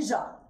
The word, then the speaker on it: Jacques: It's French, okay? You don't pronounce all of the letters. It's Emily Jacques.